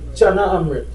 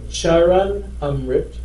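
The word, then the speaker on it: चरणामृत: But what is Chana Amrit? Anybody could tell me? Charan Amrit, you're correct. Charan Amrit is the correct name, not Chana Amrit.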